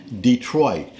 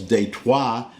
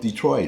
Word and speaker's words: Detroit: conquered it the British left and we've always pronounced it Detroit that happens all the time now the point is well that's just how we pronounce it but if a French person comes over and says date wha I don't get bent out of shape over